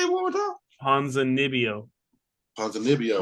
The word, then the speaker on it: Ponzinibbio: I'm gonna pick Ponzinibbio. Well, how do you say it one more time? Ponzinibbio. What's that double B? With the double B, what's that make? It's Nibbio. So Ponzinibbio. Yeah.